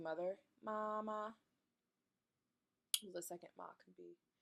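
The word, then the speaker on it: 妈: tone in Chinese there's tone one which is flat ah so ma that's how you say mom that's how you saying mother mama the second ma could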